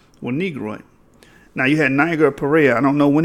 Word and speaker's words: Niger: It's not Niger. That's the English, British tongue speaking. But the Latin would be Niger, because the I is pronounced like two E's. So it would be like Niger.